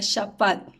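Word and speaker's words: שָׁפַט: Pero cuando revisamos en el hebreo, la palabra que se utiliza aquí para juicio es una palabra que se pronuncia shafat.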